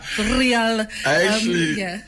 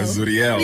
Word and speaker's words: Zuriel: Is it Zural, Zuru, Zuriel? I actually need to give you something for saying it right. Oh, thank you. Yeah, Zuriel.